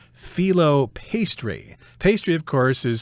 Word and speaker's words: phyllo: It's got lots and lots of layers of something called phyllo pastry.